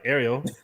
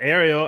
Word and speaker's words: Ariel: I don't know how to say his name right. Ariel, right? Yeah, that's how you say it right. I'm right here. All right, cool. God. Okay, my bad. Ariel, and then Jonathan Ramakan.